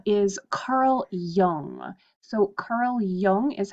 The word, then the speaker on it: Jung: and their theories is Carl Jung so Carl Jung is how you pronounce that last name and then I've also